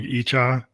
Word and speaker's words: Icha: So now what we're going to do is we're actually going to play the song Icha, and that's how we pronounce it.